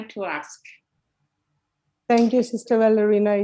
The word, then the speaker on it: Valariane: My name is usually pronounced Valariane.